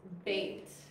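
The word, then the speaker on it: בּ: The next letter is bait. And it makes B.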